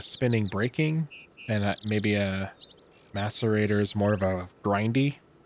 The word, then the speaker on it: macerator: Is it called an emaciator? Oh, no, not an emaciator. What is it? Macerator.